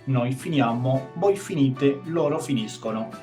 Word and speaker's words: finisco: finiamo, voi finite, loro finiscono. Fíjense la pronuncia en el caso de la SC continuada de una vocal dolce. Finisce, finisce. En el caso de una vocal dura, como la letra O, finisco, finiscono.